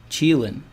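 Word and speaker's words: Qilin: Dred Scott says it's pronounced Cheelin.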